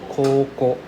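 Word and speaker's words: こうこう: Coco. You can hear I'm dragging out the sound. Right. There's a U sound inside, right? There's like somewhat of a U sound. Coco, right? Coco versus Co.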